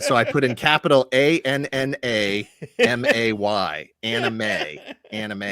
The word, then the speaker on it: anime: Yeah, so if you want to go by the actual pronunciation of the syllables, it's anime, right? Right. Anime. But that's not how they say it.